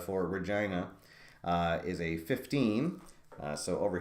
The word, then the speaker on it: Regina: Is that really Regina? That can't be right. Are you kidding? Regina Roughnecks? All right. Rob Gallimore is telling me that it rhymes with the lady bar.